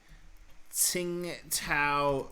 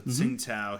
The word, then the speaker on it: Tsingtao: perfect because tsingtao beer the brand name is not spelled with pinyin it's spelled with another way to write chinese with english letters so ting tao here the chinese city